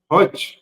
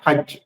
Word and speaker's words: হজ্জ: আজকের প্রথমত আমরা জানবো যে হজ্ যেটার আরবি হচ্ছে হজ্জ। এই বাংলাতে আমরা উচ্চারণের সময় বলছি হজ্। তো এই হজ্ শব্দটির অর্থ কি?